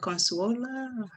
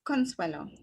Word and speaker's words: Consuelo: pronounce your first name is that consuela it's consuelo consuela so forgive me